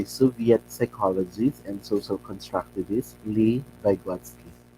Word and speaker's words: Lev: psychologists and social constructivists lee baywatsky the spelling is lev but we will pronounce it as lee vygotsky is scaffolding or